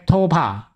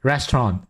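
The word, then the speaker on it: ресторан: is actually cyrillic writing So it actually not pronounced as PECTOPAH It should be pronounced as 'Restoran' of course I have no idea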